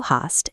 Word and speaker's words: hast: Second and third person are du hast and er, sie, es hat. The b disappears entirely.